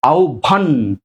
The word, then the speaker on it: আহ্বান: এই হচ্ছে ভ দিলাম, সাথে আকার আছে আকার দিলাম, আর নয় হসন্ত, কারণ উচ্চারণটা হবে কি আহ্বান, আহ্বান আটকাচ্ছি।